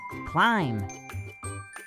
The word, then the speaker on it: climb: The B in both of these words is silent. We do not pronounce it. Thumb, climb.